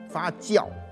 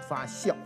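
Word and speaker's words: 发酵: 比如我们常说的这个发教啊，他不念发笑。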